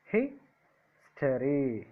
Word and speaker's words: history: History. History. His is the first syllable.